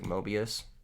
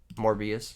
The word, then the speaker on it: Morbius: our other dudes like mobius morbius sorry sorry guys i keep saying the name wrong we cut morbius and